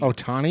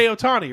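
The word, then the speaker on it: Ohtani: he's not the California Angel pitcher he's the Otani Otani there we go yeah is pretty close well what's his first name it's like sha Otani right O'Shea Otani probably it's probably Marty o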